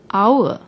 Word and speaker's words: hour: let's take the word hour which stands for time although hour starts with H but when we pronounce the word the H is silent we pronounce it as